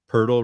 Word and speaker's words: Pirtle: Pirtle rhymes with turtle.